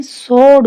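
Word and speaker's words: sword: स्वॉर्ड, स्वॉर्ड नहीं स्वॉर्ड बोलेंगे इसे, डब्ल्यू साइलेंट है।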